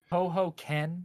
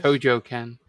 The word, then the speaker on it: Tojo Ken: Was it Toho Ken? Was that who it was? Tojo Ken. Tojo Ken. Okay.